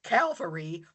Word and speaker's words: Calvary: I like this when they refer to Jeff Stewart's Calvary by saying Cavalry out loud that now when the word Calvary comes up in a scripture reading during mass, my inner podcast critic wants to shout out Cavalry.